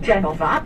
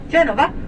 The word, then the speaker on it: Genova: the football club was genoa which is a british pronunciation of the city because we call it genova v genova football and cricket club